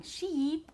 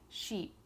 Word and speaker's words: sheep: However, when I'm saying sheep, okay, I'm not going sheep like that. That's totally awkward. I'm just saying sheep, sheep. So you should be able to make that E sound without exaggerating and going E like that.